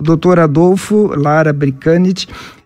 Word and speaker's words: Brkanitch: É assim a pronúncia? Bricanit. Como é que se diz, doutor Adolfo? Boa noite a todos. É Bricanit.